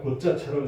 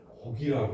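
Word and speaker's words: 告: 이게 한자로 그냥 고자처럼 쓰여 있는 것으로 보이지만 그렇게 읽지를 않고 곡이라고 읽는 것은 곡은 허락을 받는다는 뜻입니다.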